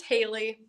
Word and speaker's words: Hallie: And clearly someone and I hope I think I've been pronouncing your name wrong because I've been saying, but it's actually, is it Hallie? It's Haley. Haley.